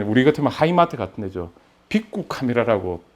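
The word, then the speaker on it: ビックカメラ: 빅구 카메라라고 빅 카메라인데 이제 일본 사람들 발음은 빅구 카메라라 그러더라고요.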